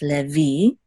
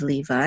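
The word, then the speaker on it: לֵוִי: together say V and the accent is on the last syllable so it's leevi okay this is the accent mark leevi instead of Levi in English now and you said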